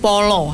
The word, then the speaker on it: pala: kita masa tabu pala tulisannya pala tapi membacanya adalah Follow ya follow akan beda